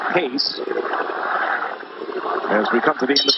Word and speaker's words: Reis: minute against Eduardo case and that is the pronunciation the Portuguese speaking Brazilian it is pace as we come to